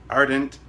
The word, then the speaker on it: Ardent: Ardent is pronounced like aren't. So aren't. There we go.